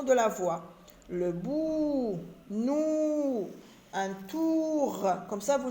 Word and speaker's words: nous: Nous, pronom personnel, nous. S, lettre muette.